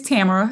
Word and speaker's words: Tamara: on on um on screen am I saying your name right love it's Tamara it's okay camera don't